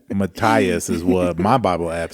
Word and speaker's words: Matthias: Matthias is what my Bible app says. There is an H in it. It's Matthias.